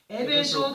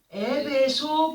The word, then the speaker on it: 에베소: 에베소 교회를 언급하셨습니다. 에베소라고 하는 단어를 보게 되면은 에베소라고 하는 단어의 헬라어식 발음은 에페소스이며 뜻은 바람직함이 됩니다.